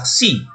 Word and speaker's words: xi: Xi atau dapat juga ditransliterasikan menjadi KS. Pengucapannya mirip seperti X, ya, dalam kata teks. Ya, kalau kita dalam bahasa Inggris teks ditulis itu bacaannya TEKST, ya, ada KS, teks.